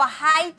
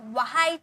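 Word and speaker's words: white: हुआ वाइट वाइट वाइट व हाइट नहीं वाइट नहीं व आपका आपका एकदम कम प्रेशर होगा व हम ठीक है वाइट वाइट ओके एक तरह से आप यह समझ सकते हो कि एच आपका साइलेंट है आप वाइट पढ़ रहे हो वाइट वाइट ओके अब देखिए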